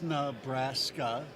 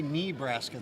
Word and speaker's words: Nebraska: you got it it's Nebraska okay some people say knee Braska that's not right no no uh but